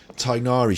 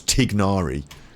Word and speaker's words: Tignari: of started the stream tigeri she says pronouncing his name wrong which is of course tignari TIG it's there you can see it you don't say the her tignari it's like silent good morning how do